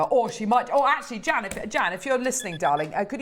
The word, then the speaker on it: Jan: Jan, it rhymes with ham.